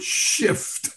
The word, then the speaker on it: shift: but it's the word shift you have to pronounce that f because if you don't you're gonna have something else happening so it's shift happens